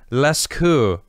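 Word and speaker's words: Lascaux: known as the list i feel like the x's is silent leskou cave paintings estimated to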